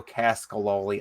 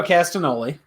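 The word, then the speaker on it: Castagnoli: gonna go with the kings of wrestling claudio cascaloli i can't pronounce his life mario castanoli thank you i can't pronounce his last name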